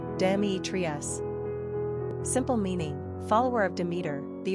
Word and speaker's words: Demetrius: Pronunciation, Dēmētrios.